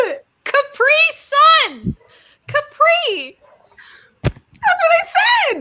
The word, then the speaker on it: Capri Sun: Capri Sun. Capri. That's what I said. No, you said Capri. Yeah, the accent was definitely on the CA portion.